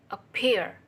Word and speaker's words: appear: verbs word number one appear appear that stress is peer word number two is